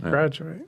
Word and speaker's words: Gradu8: that's cool so graduate is that how it's pronounced graduate yeah and so where did that start for